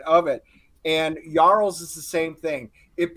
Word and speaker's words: jarl: though she is correct properly pronounced yarl so you think you